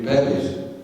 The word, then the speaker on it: bevies: out having a few bevies. See, that's a word I've learned up here, bevies. Bevies, hello. Bevy rhymes with Revy as well, doesn't it?